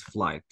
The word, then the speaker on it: flight: Bravo so all guys this is flight all the DH GH if you want to check or see GH all the time it is silent okay okay okay I